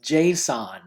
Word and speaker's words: JSON: The next thing you need to do is type settings, and notice how it says right up here, open settings JSON, J-S-O-N, it's pronounced JSON.